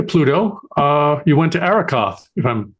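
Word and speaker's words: Arrokoth: And then after Pluto, uh, you went to Araoth, if I'm pronouncing that properly.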